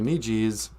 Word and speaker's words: Niji: But your female friend is a Nijikwe, and your friends are your Nijis, or your Niji is the proper way to say Niji.